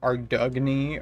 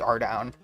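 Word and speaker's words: Ardougne: some like Ardugany or like Ardugan or whatever because of that one stream that Old Schoolcape did where they're like, "Yeah, it's pronounced Ardown."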